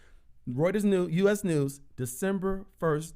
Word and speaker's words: Reuters: Yeah, that's how you pronounce it. Reuters. Reuters News, U.S.